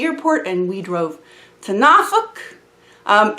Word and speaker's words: Norfolk: and we drove to nauk um it's spelled Norfolk but that is not how it's pronounced just so you know it's nauk so we went to